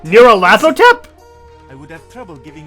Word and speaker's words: Nyarlathotep: This phrase is pronounced Nayarhut, or more likely, Luthotep. Nayarluthotep. Nyarlathotep?